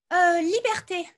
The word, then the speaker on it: liberté: le dernier parce que c'est pas un E muet, c'est liberté. oui, c'est un E qui se prononce.